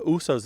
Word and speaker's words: Uso: might say uh the Usos love to eat at that restaurant meaning Samoans love to eat at that restaurant and it's shortened to oo to rhyme with moose or goose and not just in